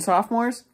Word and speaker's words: sophomore: I think it was mainly juniors and sophomores. But it's so funny to hear some of the kids being like, I am a sophomore. And I'm like, the O is silent.